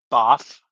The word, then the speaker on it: HBAF: It's pronounced BOF.